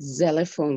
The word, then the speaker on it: xylophone: Like the word xylophone, for example. So sometimes it's not pronounced X, it's pronounced like Z.